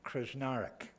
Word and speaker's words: Krsnarek: citizen award for crack kathy krsnarek that's the way you pronounce it by the way i